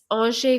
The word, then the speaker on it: Angers: I didn't catch what's it so it's it's an France so spell like angers but it's spelled it's that's and it's um uh you